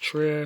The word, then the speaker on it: Trier: bill Lars von Trier Trier I think is pronounced true I did enjoy this